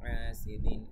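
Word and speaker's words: حَسَد: ومن شر حاسد إذا حسد ومن এখানে ইকফা, শাররি হাসিদিন হায়ের উচ্চারণ তো অবশ্যই খেয়াল রাখবেন, ইযা জালের উচ্চারণও খেয়াল রাখবেন, হাসাদ এখানে লাস্টে আবার কলকলা।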